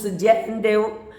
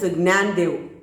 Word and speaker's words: Gnanadev: Actually, in English books, Jandev, and in North India, in Maharashtra also, they pronounce Jandev, but actually, in common, we pronounce Gnanadev.